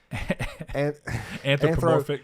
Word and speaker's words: anthropomorphic: Anthropomorphic. Yeah, and I said anthropomorphic. No, that's the right way to say it.